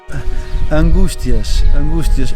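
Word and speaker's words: Angústias: uh what the meaning behind it is please angustias we pronounce uh so in ireland we have we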